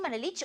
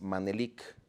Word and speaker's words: Manelik: dicen Manelich, otros Manelik, ¿qué? ¿Cómo se pronuncia? El nombre es de una poesía de Antonio Mediz Bolio y es Manelik.